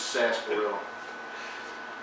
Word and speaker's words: sarsaparilla: and it has an R in it, sarsaparilla, but like a lot of words in Louisiana, the R is silent, so it's just sarsaparilla.